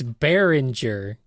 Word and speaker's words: Bearinger: can answer this one it's a pun it's bearinger it's a play on